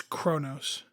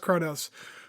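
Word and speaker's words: Qo'noS: duras did you call it quos quos it's Kronos it's not spelled krenos I know and that's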